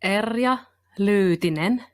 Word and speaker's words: Erja Lyytinen: it right okay well the finns would say eria looting but to you know to